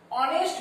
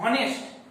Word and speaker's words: honest: অনেস্ট ম্যান, নট হনেস্ট. হনেস্ট ম্যান কেউ বলবে না, honest man. So silent H.